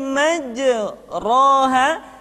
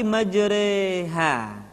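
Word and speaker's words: مجريها: Ayat tersebut berbunyi, “Wa qalar-kabu fiha bismillahi majraha.” Dibaca dengan imilah, artinya condong. Jadi, huruf ra dengan fathah dibaca condong ke kasrah, sehingga bunyinya bukan majraha, tetapi majreha. Majreha.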